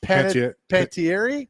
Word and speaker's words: Panettiere: I can't pronounce her last name. Hayden Panettiere.